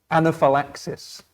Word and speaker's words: anaphylaxis: Anaphylaxis. Anaphylaxis. Yeah, there's 5 syllables. Anaphylaxis. Yeah, perfect. Yeah. Yay. Yeah, and so anaphylaxis with the stress on the 4th syllable.